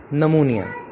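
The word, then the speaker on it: pneumonia: topic है वह है नमोनिया इसको नमूनिया बोलते हैं निमोनिया और इसके पीछे साइलेंट है इसमें ऐड यह तय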